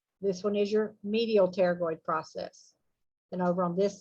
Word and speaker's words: pterygoid: that is your lateral pterygoid process so it's a pt word so the p is silent okay lateral pterygoid processes